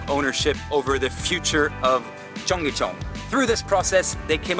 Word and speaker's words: Cheonggyecheon: Young, can you pronounce Cheonggyecheon? Cheonggyecheon.